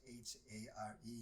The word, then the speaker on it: Hare: And at the time when I got the card, I didn't even know how to pronounce it, because it's pronounced H-A-R-E.